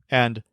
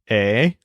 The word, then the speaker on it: he: sees you he says a but when you start addressing him he says Ah because he wants all the attention on himself so the word a spelled h e means have as in I